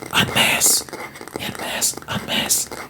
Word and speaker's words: en masse: I'm not gonna say masse.